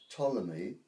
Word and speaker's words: Ptolemy: living in Egypt called Ptolemy spelled with a p p t o l